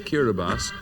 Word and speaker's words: Kiribati: It says Kiribati on your screen, but it's actually pronounced Kiribati.